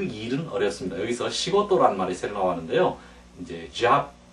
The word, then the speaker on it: 仕事: 같이 한번 몇 번 발음할까요? 시고토, 시고토 또 달리하면 싱오토, 싱오토 또는 시고토, 시고토 다 마찬가지입니다.